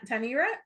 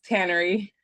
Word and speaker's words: Tannery: wrong mama uh t tanira t tanira tanira um how do you say it it's Tannery Tannery oh my gosh I'm like so off thank you Tannery for that correction um but this is